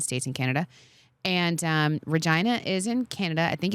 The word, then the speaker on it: Regina: I'm gonna say it was the city of Regina and it's pronounced Regina it's pronounced Regina okay um and it's in